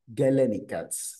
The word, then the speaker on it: galenical: scientist Galen so that is why these are pronounced as galenical simply Galen is the one who discovered this